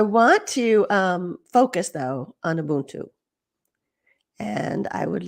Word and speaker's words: Ubuntu: That's Ubuntu. He loves to say Ubuntu. Ubuntu. I say Ubuntu, and I think it's a little different depending on where you are in sub-Saharan Africa, how it's said.